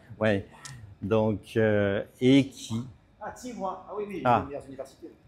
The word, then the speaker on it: Tsinghua: Alors, je vais dire le nom, mais Tsinghou, mais je prononce toujours mal, à Pékin. Ouais. Donc, et qui... Ah, Tsinghua.